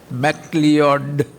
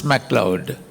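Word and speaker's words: Macleod: His name is spelled M L E O D MLord. If you spell it out like that, pronounce it like that. But the correct pronunciation is Mloud.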